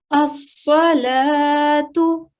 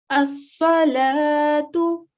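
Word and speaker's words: الصلاة: That letter, blank vowel, will not be pronounced at all. So let's take a look at this example here. As-salatu. As-salatu.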